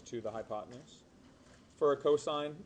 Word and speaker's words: cosine: Cos is pronounced and stands for cosine.